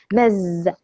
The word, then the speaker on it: Ms: مز تمام. بننطق زي الزد كده مز.